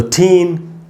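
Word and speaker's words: tan: तो टैन, ए का सिंबल यही है, IPA का सिंबल, और मैंने टैन में जो ए है उसी को अंडरलाइन किया, जैसे कि ए पर हम ज़्यादा देर तक रुकें, टैन, सन टैन।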